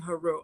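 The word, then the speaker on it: Heru: use those terms, but the Medu Neter clearly has it written to pronounce it as Asar, Aset, and Haru.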